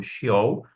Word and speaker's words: Sheol: aqui foi traduzido, mas a gente tá pronunciando como Sheol, a partir do hebraico, "quem te louvará?"